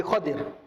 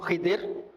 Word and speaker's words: Khidir: Nabi Khadir, ada sebut Khidir, sebut Khadir, dan bacaan yang paling doa Khadir. Khadir tak ada, sebab ejaan Khadra, Khadir atau Khidr. Boleh dua-dua, tak ada masalah.